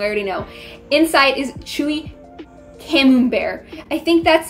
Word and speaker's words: Camembert: However, I've had it so many times, that cheese, but I always, until literally a couple days ago, pronounced it as Cambrai cheese. I thought it was pronounced Cambrai until I saw this